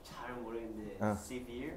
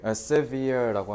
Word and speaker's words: severe: 자, 저거 발음 세베레라고 하면 돼요, 안 돼요? 그럼 뭐 어떻게 하는데요? 세베레가 아니라 severe. severe라고 하면 돼요.